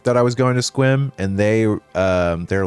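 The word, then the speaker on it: Sequim: Someone did I told someone at work that I was going to Squim and they um they're like that's how that's pronounced.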